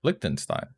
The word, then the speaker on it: Liechtenstein: Pronunciation. Liechtenstein. Yeah, Liechtenstein.